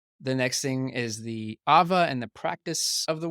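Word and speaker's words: ʻawa: Ava themes. Oh, okay. It is, and for those listening, the apostrophe A-W-A is how it's spelled, but it's pronounced with a v like a Mhm.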